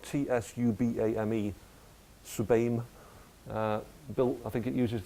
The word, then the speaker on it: TSUBAME: I mean, there was a Japanese machine called it's spelled TSUBAME, Subame, built.